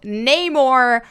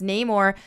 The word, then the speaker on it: Namor: Studios is marketing as Namor tells Leticia writes shuri my enemies call me Neymar actor Tina kuret here here uh pronounces the words Namor oh no more so Neymar instead of How It's traditionally pronounced